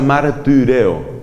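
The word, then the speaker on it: μαρτυρέω: La Y se pronuncia como la I francesa, que es una combinación entre la I y la U. Por eso se pronuncia martireo.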